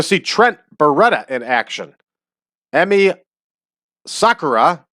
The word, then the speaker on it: Emi Sakura: Trent Beretta in action Emmy Sakura which is the way I heard it pronounced properly last night will wrestle and